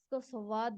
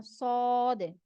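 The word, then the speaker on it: ص: करेंगे सद स ओके स सवाद नहीं पढ़ना है इसमें व ऐड नहीं करना है इसको सीधा आपने पढ़ना सद सद सद अगर इसमें व नहीं आएगा तो यह सद आप सही प्रोनाउंस कर रहे अगर आप इसमें जैसे मोस्टली लोग पढ़ते हैं स्वाद नहीं सवाद नहीं है य य सद सद ओके जो नेक्स्ट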